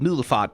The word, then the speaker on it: Middelfart: Which, you know, there's a Danish town called Middelfart, which is spelled like middle fart, which, haha, very funny.